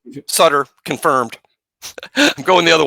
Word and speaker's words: Sutter: I was going with my main man, Major League Hall of Famer Bruce Sudter. It's Sutter. Well, my my wife's middle name is M O WR Y.